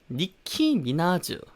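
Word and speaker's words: Nicki Minaj: 이름입니다 자 2분이 를 우리말로 어떻게 하죠 니키 미나즈 라고 하죠 니키 미나즈 니키 미나즈 가 그나마 제일 근접한 소리 어서 우리말로 이렇게 옮긴 건데요 자 니키 미나즈 같은 경우에는요 영어로 이렇게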